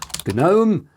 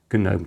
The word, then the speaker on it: GNOME: So, let's open the app center over there and we'll search for Gnome, which is pronounced with a hard G because it's a double acronym.